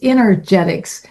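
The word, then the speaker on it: Innergetics: to spell that because they hear Energetics but they still think E. It's Energetics i n n e r g e t i c s. It's energy from within.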